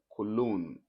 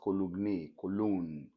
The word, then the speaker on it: cologne: then this is what cologne not column yes the perfume meant